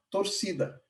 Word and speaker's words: torcida: Então, a torcida oficial do Hajduk Split se chama torcida. A pronúncia deles é torcida, com C.